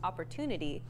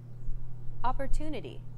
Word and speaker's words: opportunity: than syllables that are unstressed opportunity the stress syllable - in opportunity is deemed more important so it's pronounced longer than all other syllables listen to it again opportunity this gives English my machine gun-like rhythm where